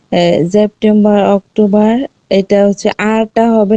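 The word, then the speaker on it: September: কালকে যে আপনাদেরকে শিখাইছিলাম, এ এয়া যদি থাকে সেটা হচ্ছে সরাসরি উচ্চারিত হয় আয়ের মতো। ঠিক আছে? আ হবে, তাই সেপ্টেম্বা।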